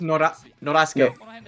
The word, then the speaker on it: Norasuke: It's Norasuke. Norasuke. Yeah. Okay. From Norasuke. Sasuke, but it's Sasuke, but Nora.